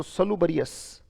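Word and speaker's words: salubrious: उच्चारण अगर याद करना चाहें तो स, लू, बरी और अस, राइट। तो सलूबरियस, स लू बरी यस, राइट, उच्चारण हो गया सलूबरियस, राइट।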